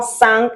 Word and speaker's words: cinq: matin un matin And then cinq cinq un deux trois quatre cinq is not cinq is not cinq it's cinq because I N is un.